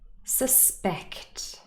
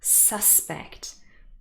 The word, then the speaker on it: suspect: is not the same with the nouns the stress is on the first syllable protest record suspect but if these words act as verbs the stress is on the second syllable protest record suspect and there are many